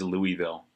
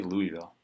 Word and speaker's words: Louisville: him in his louisville how do you say i say louisville if you're from this place you'll say louisville louisville maybe that's just what i should say is louisville because that's how the people that live there say